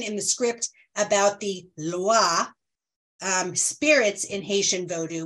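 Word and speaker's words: lwa: the script about the Loa um Spirits in Haitian Voodoo which is spelled l-w-a and pronouncing it Iowa as if that was an i and there was no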